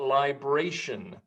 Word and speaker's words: libration: today i learned about libration it's spelled like vibration with an l on front and basically the moon